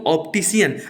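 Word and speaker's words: optician: में इसको कहते दोस्तों ऑप्टिशियन अब आप देखिए की यहां पे ऑप्टिकल में सी के बाद आपको क्या दिखे रहा है ये सी का जो उच्चारण करके जैसा नहीं हो रहा है इसका उच्चारण एस के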